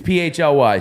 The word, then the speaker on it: PHLY: I've seen some people discussing how we pronounce it and all that. It's PHLY.